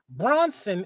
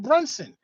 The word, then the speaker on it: Brunson: Some of y'all call me Bronson instead of Brunson.